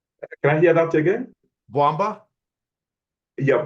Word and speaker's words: Bwamba: Am I pronouncing it Okay. properly or no? Can I hear that again? Bwamba? Yeah, Bwamba.